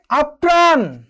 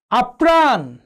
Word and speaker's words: আপ্রাণ: যেমন দেখো, একটু খেয়াল করে দেখো যে আপ্রাণ, বিগ্রহ, বিচিত্রত। একটু খেয়াল করে দেখো প্রিয় শিক্ষার্থীবৃন্দ, আপ্রাণ, বিগ্রহ, অর্থাৎ এই জায়গাটিতে কি হয়েছে?